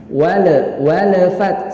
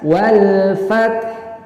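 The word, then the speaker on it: وَالْفَتْحُ: Walafat salah, walafat ini kesalahan. Yang benar dibaca dengan jelas wal fath.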